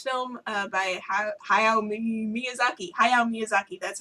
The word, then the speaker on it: Hayao Miyazaki: is a Japanese film uh by Hayao Miyazaki Hayao Miyazaki that's how you say it Studio Ghibli things that are difficult to pronounce um and I just remember identifying with